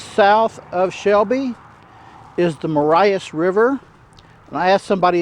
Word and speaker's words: Marias: a little ways south of shelby is the marias river and i asked somebody in town and the correct pronunciation is marias it's a nice river in a valley here